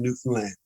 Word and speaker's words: Newfoundland: Newfoundland right Newfoundland I I always tell people you say understand understand Newfoundland Newfoundland yeah I for